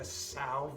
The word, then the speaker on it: São: I thought, oh, maybe I'll make a São Valentim, which is Portuguese for Saint Valentine, and obviously referencing the Portuguese port that's in it. But also I thought São kind of sounds like the word sour, and I really like whiskey